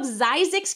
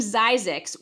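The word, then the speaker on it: Zzyzx: The town of Zyzix, California, which is spelled Z-Z-Y-Z-X, got its name because the man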